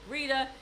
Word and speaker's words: Rita: my mother's name wrong he calls her Gretta instead of Rita but we're splitting hairs